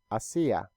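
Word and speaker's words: hacía: so you will say hacia but remember that the letter H is silent in Spanish you never pronounce it asiye - I see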